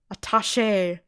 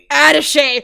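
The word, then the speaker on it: attaché: Oh, I forgot how to pronounce this. Ataché. Is it Ataché? Ate. I'm going to Google. Adese.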